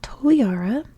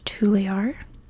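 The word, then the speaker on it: Toliara: the most stuff on the capital here is toara or the French pronunciation they would say on the island is tar I've literally heard tar in my research more than toara but toara is the official name in English so that's what I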